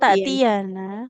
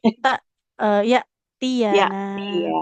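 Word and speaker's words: يأتينا: Bukan tak tiana tapi ta ee yana.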